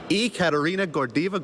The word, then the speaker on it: Ekaterina Gordeeva: Joining me, yes, me now, is two-time Olympic pair gold medalist Ekaterina Gordeeva.